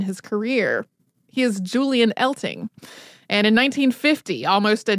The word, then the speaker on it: Eltinge: talking about him where people say it elting and apparently he picked the stage name on purpose because of the potential for mispronouncing it thinking that it would quote serve to fix it more firmly with the public uh so just we're just going to go with elting I mean I understand